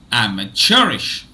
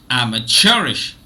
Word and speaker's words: amateurish: this is called as sure is called the primary stress syllable and M is called the secondary stress syllable now let me repeat